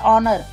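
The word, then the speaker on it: honour: Sound आ रही है जैसे एच साइलेंट होता है एच ओ जो है ऑनर एन ऑनर an honest man ही इज an honest man एन आर ठीक तो इनमें भी हमारा एन लगेगा।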